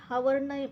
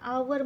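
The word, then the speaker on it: hour: खाली अंडरलाईन केली आहे नंतर आवर आवर मध्ये सुद्धा एच चा उच्चार होत नाही हावर न म्हणता आपण आवर म्हणतो आवर म्हणून एच चा उच्चार होत नाही म्हणून एच खाली अंडरलाईन केली अशाप्रकारे आपण आज सहावीचा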